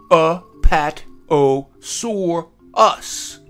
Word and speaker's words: Apatosaurus: How to say it. Apatosaurus.